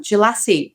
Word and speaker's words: Djelassi: And well done, Jalassie, you pronounced it correctly.